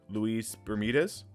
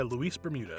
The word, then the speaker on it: Luis Bermudez: holy your name is pronounced Louise Bermudez yeah yeah Luis Bermuda pretty much I am usually terrible